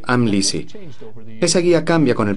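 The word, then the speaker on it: Amlici: Nuestra guía de pronunciación en la parte posterior del texto dice Amlisi.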